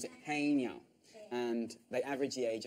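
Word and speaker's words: haenyeo: You pronounce it Haenyao.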